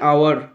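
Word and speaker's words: hour: Number 46, he will return in অ্যান আওয়ার। তিনি 1 ঘন্টার মধ্যে ফিরে আসবেন। এর উচ্চারণটা কিন্তু আওয়ার, এটা হাওয়ার নয়, এর উচ্চারণটা আওয়ার, এই যে উচ্চারণ এর মতো হয়েছে, তাই অ্যান বসলো।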